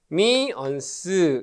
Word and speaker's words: 퍼미언스: 우리가 얘를 릴럭턴스다라고 하는데 얘의 역수 RM 분의 1을 우리가 P라고 쓰고 얘를 뭐라고 읽냐면 퍼미언스 이렇게 얘기를 합니다.